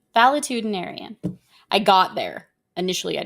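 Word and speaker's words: valetudinarian: See how close I was? I said it correctly. Valitudinarian.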